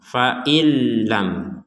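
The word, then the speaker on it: فَإِن لَّمْ: Di sini nun mati bertemu lam diperkuat dengan tasydid ya. ini kita bacanya dimasukkan. Nah, kalau tidak dimasukkan jadi awal katanya adalah fain. Misalnya kita berhenti di sini dipotong ya dipotong maka kita bacanya fain. Kemudian lam fain lam fain lam itu kalau dipotong. Nah, sekarang digabungkan akan menjadi faillam.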